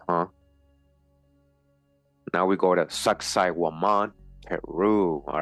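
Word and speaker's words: Sacsayhuamán: here the ruined Mountaintop Fortress of success pronounced sexy woman overlooks the ancient capital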